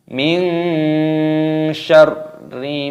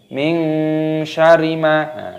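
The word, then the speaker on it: من شر: Perhatikan roknya terdapat tasdid, maka diidghamkan, dimasukkan, ditekan. Min syarri, tidak boleh min syarima, tidak boleh, harus ditekan.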